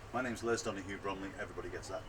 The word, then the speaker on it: Donohue-Bromley: I'm sorry about my pronunciation. My name's Donohue-Bromley.